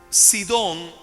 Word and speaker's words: Sidón: listos digan amén Okay sidón se escribe así como suena s i d o